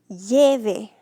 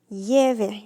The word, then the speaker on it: lleve: It goes always on the next to last syllable of the original command because that's where the original stress fell on your word. Lleve. Lleve. You can hear it on that first E, right?